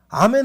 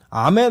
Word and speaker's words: 아멘: 그리고 영어로는 이걸 에이멘이라고 하는데 영어보다 한글이 훨씬 더 원래 본토 발음에 가깝습니다. 그러니까 아멘이 맞아요.